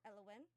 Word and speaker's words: Elwyn: How do you say it again? Elwin? Elwyn? Okay, Elwyn.